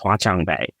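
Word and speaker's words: 华强北: And just because when I was a kid, I always loved technology, I heard there was this market called, I think it's pronounced Huaqiangbei in Shenzhen.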